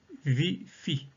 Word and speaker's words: ViPHi: Alors, VIFI s'appelle VIFI parce qu'on parle de vivance phronique isoquée. Donc, VIFI s'écrit V-I-P-H-I.